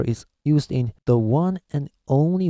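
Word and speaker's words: を: So actually, instead of pronouncing this as wo, actually in Japan today, we've already changed it to simply o. Okay, so we pronounce this sound exactly same as this one here, o, because we use too many times this character.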